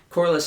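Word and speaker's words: Corlys: I think my MVP has got to go to Corliss.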